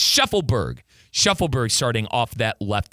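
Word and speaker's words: Shaffelburg: I keep calling him Sheffield. It's Sheffleberg.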